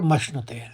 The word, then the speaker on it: मश्नुते: आखिरी चरण देखिए, सुख मक्षय और मश्नुते। आराम से आप उच्चारण करें, मक्षय। पहले आप क का आघात लेंगे मक, म के ऊपर, फिर मश्नुते, फिर आप श का आघात लेंगे मश्नुते, सुखमक्षय मश्नुते।